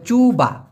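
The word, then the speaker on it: cuba: দেখা সেটা হচ্ছে বাঙ্কান চুবা বাঙ্কান কল্পনা করার চেষ্টা করো চুবা বাকান চুবা মানে কি চেষ্টা দিয়ে এখানে সি ইউবি উচ্চারণটা হবে চুবা কারণ সিকে মালয়েশিয়ান ভাষায়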